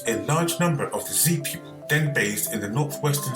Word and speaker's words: Xia: which ultimately sent them out of Africa the Z Nobles established the first dynasty known as the Z Dynasty interestingly although it's spelled xia the actual pronunciation is z so